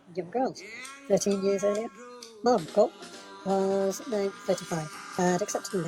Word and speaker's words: Margot: Flavia and Femminielle were basically there to confirm the story of Scarantino's relationship with Margot, accent on the second syllable, whose personal tragedy this trial had become.